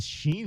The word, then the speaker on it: Sean: But I have seen people who have it spelled like Sean. And, oh no, it's actually Sheen. Yeah. Where's the H in your name? Oh, there's no H. It's just how that's how it's pronounced.